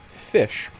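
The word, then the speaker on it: ghoti: from cough or hiccup, the GH from cough, it's a GH. Right? So that's where you get the frown. And OTI in a couple of words makes an ish sound. So gochti actually is pronounced as fish.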